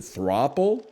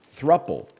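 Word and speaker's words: throuple: it's should be pronounced is it is it thropple that doesn't sound right that sounds like it should have two P's couple thruple thruple it doesn't look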